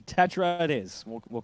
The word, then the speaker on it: Tetra: that were saying that it's actually pronounced here Tetra, like a Tech and Ra.